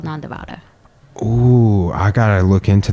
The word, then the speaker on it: Nandivada: Nandivada. Nandivada. Nande. It's the lower D.